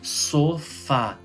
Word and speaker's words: sofá: Sofá. É final A, oxítona, aí tem o acento.